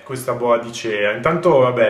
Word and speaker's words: Boadicea: E chi è questa boadicea intanto Vabbè la pronuncia bodicea la pronunciamo alla latina sarebbe boa di sì ma lei viene chiamata